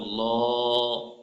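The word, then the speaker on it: الله: শব্দের লামের পরের হরফে পূর্বের হরফে জবর অথবা পেশ হলে আল্লাহ শব্দ লামকে পড়বা মোটা করে পড়তে হয়লাম পেশলাম মোটা আল্লাহ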